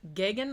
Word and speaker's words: Geoghegan: directed by uh ted giggin i think is how you pronounce his last name even though there's a lot more uh letters in there than that now i have actually